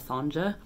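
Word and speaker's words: Sonja: cautious of was sonya's i think that's how you say it's s-o-n-j-a which i believe is a way you can spell sonia but for some reason as i was reading it i kept pronouncing it in my head as sanja which is fine too i just don't the reason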